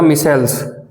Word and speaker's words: micelles: सी type के हैं associated colloids, यानी को बोला जाता मिसेल्स, MICELLES मिसेल्स। कुछ और प्रोनाउंसिएशन नहीं है इसकी, बताओ। हैं मिशेल नहीं, मिसिल बोलते हैं इसको।